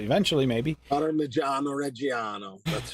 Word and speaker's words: Parmigiano Reggiano: Parmigiano Reggiano. I'll say it right eventually, maybe. Parmigiano Reggiano.